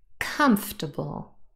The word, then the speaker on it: comfortable: one is stressed breakfast comfortable and vegetable have both three syllables and the first syllable is stressed comfortable not comfortable no that